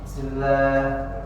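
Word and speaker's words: بسم الله: Kemudian ee tidak boleh menghentak bismillah bismillahirrahmanirrahimah misalnya kayak gitu. Jadi itu mengurangi kesempurnaan huruf bnya. Bismillah. Jadi dibacanya jelas. Bis bismillahi. Bismillahi. Nah. Jadi jangan dihentak karena ini huruf ee syafat.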